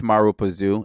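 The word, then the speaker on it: Marubozu: The Mara, okay, Marazupazu, pronunciation. I'm not gonna hold you. Marubazu. Marubazu. All right, so we got it.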